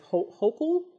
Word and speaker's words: Hochul: I think her name is Hochul. That's how you say her name.